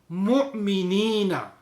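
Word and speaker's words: مؤمنين: Mu'minina.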